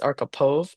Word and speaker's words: Archipov: it's actually well, you could say Arkapaw. I think Arkapaw. it's my husband's last name, but they changed it. It's Archipov, but when they immigrated they changed it to Arkapaw, you know?